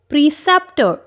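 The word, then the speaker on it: preceptor: आर इस word के एंड पे साइलेंट होगा क्योंकि हम जानते हैं कि ब्रिटिश इंग्लिश में अगर कोई वर्ड अगर आर वर्ड के एंड पर आ जाए तो आर प्रोनाउंस नहीं होता।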